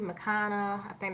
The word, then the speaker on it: McConaughey: it was a really good movie and Matthew McConaughey that's how you pronounce his name he was a man character